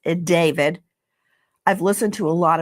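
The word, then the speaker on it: d4vd: It looks like D4 VD. It's David.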